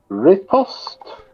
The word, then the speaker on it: riposte: And riposte. Oh, I knew that was coming. Oh, well. You see, it doesn't take unless you make a point of pronouncing the T.